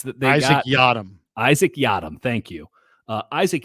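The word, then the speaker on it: Yiadom: from the saints that they got yam Isaac yadam thank you uh Isaac yadam has been out there and has looked magnificent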